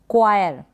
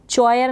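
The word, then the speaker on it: choir: है, आप इसको देखें, चॉयर ना पढ़ें इसको, चॉयर इस तरीके से नहीं, क्वायर, क्या पढ़ेंगे, क्वायर। यहाँ पर एच साइलेंट है, एच क्या है यहाँ पर, साइलेंट है, ये इसका प्रोनाउंसिएशन है।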